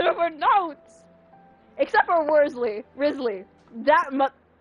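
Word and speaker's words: Wriothesley: Worsley Risley that much I had to search up how to pronounce this say five times I'm getting mad I'm getting upset you know what positive I can't ow my knee I can't hold it in Risley no that's not how it's been aims pronounced I refuse to believe that it's Worsley I'm sorry no I can't see that motherfucker's name is pronounced worthy not Risley no I'm sorry but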